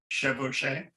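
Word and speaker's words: chevauchée: But with a single command from a king militarily, an incursion could, how do you pronounce it? Chevauché? Chevauché.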